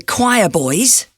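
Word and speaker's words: Quireboys: by the choir boys which is spelt q u i r e boys the album is called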